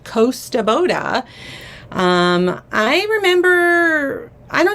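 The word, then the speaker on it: Kosta Boda: someone the Costa Boda someone corrected me in the comments and said this is pronounced Costa Boda um I remember I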